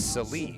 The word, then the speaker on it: Salee: We also learned that Kale Sally's last name is not Sally, it's Salee.